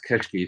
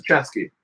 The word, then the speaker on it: Chesky: I swear to God, I've heard him pronounce Keshki. Sorry, I don't know if that's right or not. No, it's Chesky. Okay, Chesky. 100%, I know it's Chesky.